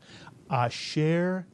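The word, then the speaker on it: אֲשֶׁר: Can you pronounce this Hebrew word? Asher is correct.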